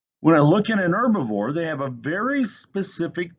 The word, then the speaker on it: herbivore: herbivore it's not a herbivore the h is silent an herbivore which only needs plants